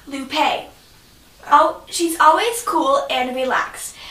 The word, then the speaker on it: Lupe: Campbell lopine is light blue her name is pronounced Lupe she's always cool and relaxed and she's honest